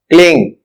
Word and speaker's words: क्लीं: अंग्रेजी वर्णमाला के अनुसार, आपको Aing का उच्चारण A-E-I-N-G की तरह करना चाहिए। मतलब, ऐंग. ह्रीम, एच-आर-ई-ई-एन-जी, ह्रीम, क्लीम, के-एल-ई-ई-एन-जी, क्लीम।